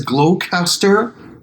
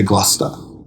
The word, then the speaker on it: Gloucester: those that's a good I think the worldwide says glow caster and only in England they say Gloucester something like that yeah